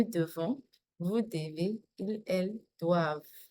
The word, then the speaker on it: doivent: Je dois, tu dois, il, elle doit, nous devons, vous devez, ils, elles doivent. Doivent. V. That's it. The V is pronounced.